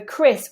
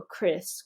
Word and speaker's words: Chris: that's much more important so for Chris with a single eye make it very neutral Chris Chris Chris whereas for